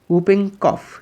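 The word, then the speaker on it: whooping cough: करना या के काना उपिंग कफ य पर डब्लू साइलेंट काली खांसी थैंक यू फॉर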